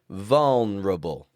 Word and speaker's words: vulnerable: All the vowels in this word are either getting a strong uh or a weak uh so you don't need